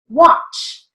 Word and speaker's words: watch: It's spelled with an A, but has an ah sound, so we're going to write it with a broad A. Wash, W-A-U-S-H. Watch, W-A-U-C-H.